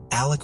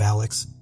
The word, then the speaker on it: Alec: War, and Richard Alexander "Alec" Murdaugh could potentially follow in their family's footsteps in the future. In my last covering, it appears that he pronounces his name as Alec instead of Alex, but